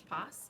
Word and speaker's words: Poss: To be fair, it rhymes with my last name, which is Poss.